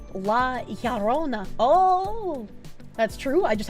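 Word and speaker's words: La Llorona: Spanish double L is pronounced like a Y. La Yarona.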